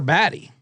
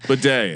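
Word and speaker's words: Badie: Bedet actually. Bed. It used to be Baddy and then he got in a fight with his family and changed it to bed.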